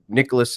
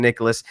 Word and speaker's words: Nicola: know that you know Nicolas with English versions Nicolas is it's like it's hard always pronounced his name the English version Nicolas is it's Nicolas at but his actual name is Nicola but I'm just gonna